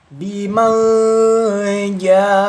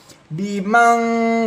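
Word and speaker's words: بمن جاء: Didengungkan didengungkan tipis bim bimanja. Hati-hati jangan berlebihan atau jangan sampai lebai membacanya atau didengungkannya. Contohnya kalau lebai seperti ini bimang jadi kayak tertahan jangan ditahan ya hati-hati harus didengungkan.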